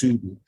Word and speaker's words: Soudi: It's spelled like, in Arabic, it's spelled like Saudi Arabia, but it's pronounced Soudi, which in turn means